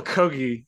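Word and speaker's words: Kogge: of the most striking moments for me Michael kogi uh and it is indeed pronounced kogi let's confirm that again it is pronounced he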